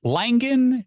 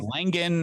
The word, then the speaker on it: Langan: Uh Langan, just Langan as if it was I guess Gin, but that's fine.